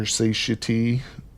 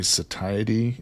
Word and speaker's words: satiety: I think pretty sure people get on me when I say satiety instead of satiy for that word. I mean, it's technically pronounced both ways, but yeah, every time I put a short out where I say the word satiety, people like I get a million comments. It's satiy.